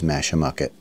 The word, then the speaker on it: Mashamoquet: with Park staff I was told the correct pronunciation is masham mucket we're going to be leaving here maybe doing